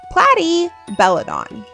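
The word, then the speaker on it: Platybelodon: Platty Belladon.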